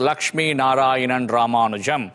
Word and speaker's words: Lakshmi Narayanan Ramanujam: i know that one my full name is lakshmi narayanan ramanujam oh goodness but i i shorten it or